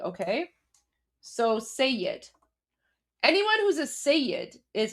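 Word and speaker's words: Seyed: So guys anyone anyone who is a say that's spelled s e y e d. Okay. So sayyad anyone who's a sey is essentially that means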